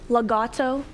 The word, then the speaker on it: legato: please it's an adverb legato am i pronouncing it correctly legato that sounds correct la got legato el